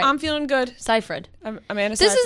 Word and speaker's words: Seyfried: the thing i d i go back and forth from saying it right and wrong like sometimes i like say the wrong pronunciation and then i just flip seifried ciphered but i there are times when my brain just forgets and i say it the wrong way and then i'm like